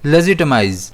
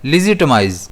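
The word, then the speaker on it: legitimize: Cambridge dictionary में इसका pronunciation दे रखा है लेजिटमाइज जिसमें स्ट्रेस ज़ पर रहता है।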